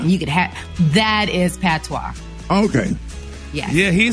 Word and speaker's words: patois: Patois? P-A-T-O-I-S? You said it right. Patois.